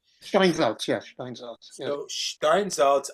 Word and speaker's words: Steinsaltz: Could you just say a word about how the Stein Schneider, I think I'm pronouncing it wrong, edition fits into all of this? Steinmetz. No, Steinsaltz. Steinsaltz, yes, Steinsaltz.